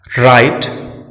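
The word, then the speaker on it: write: W silent रहता है जब यह वर्ड के आरंभ में हो और इसके तुरंत बाद आर आए। राइट, रिस्ट, रॉन्ग, इन सभी शब्दों में डब्ल्यू साइलेंट है क्योंकि वर्ड डब्ल्यू से शुरू हुआ है और इसके ठीक बाद आर का प्रयोग हुआ है।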